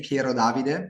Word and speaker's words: Pierodavide: We say Pierodavide in Italian, but I know here, it's challenging from. and so Piero Davide is an intellectual property attorney based in Milan, Italy.